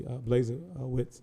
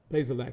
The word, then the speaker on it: Bazelak: Obviously, Blazewicz is, did I say his name right? Bazelak, excuse me.